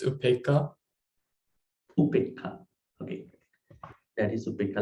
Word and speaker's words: upekkhā: So in here, Upekkhā, H long a, right? Dana, D, A, long A, Dana. It's like that. Anyway, so Upekkha.